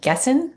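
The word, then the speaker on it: Gießen: Stefan finished his agricultural university studies in G and Gessen. How do I pronounce that? Stefan. Een. Een. Thank you. Gizen, Germany in 1982.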